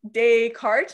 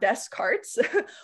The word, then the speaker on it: Descartes: asked how do you pronounce descartes so it's pronounced like descartes not descartes which yeah it is a little bit weird